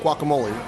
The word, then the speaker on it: guacamole: Guacamole. And 3 syllables. Guacamole. That's actually 4 syllables.